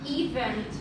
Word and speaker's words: event: Event. Event. Event. We place here the stress on the second syllable, not event or whatever. It's event. Event.